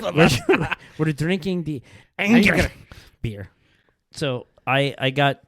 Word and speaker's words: Ayinger: Well, I mean, it's German, so I mean, you need to make it sound like you're mad. Ayinger. Yeah. Okay. Yeah. Ayinger.